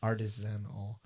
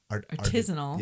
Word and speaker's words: artisanal: wheels of award-winning cloth-wrapped artisanal. Artisanal. Thank you. Good night. Artisanal. Artisanal. Put the emphasis on the wrong syllable.